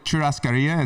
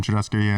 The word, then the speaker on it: churrascaria: It's like it's a what's called a churrascaria. It's like a Brazilian steakhouse. I love that word. That was good. Yeah. That was a good pronunciation.